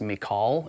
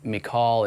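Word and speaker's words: Michal: with the other distributor his name is I think it's pronounced McCall it's m-i-c-h-a-l I think he's up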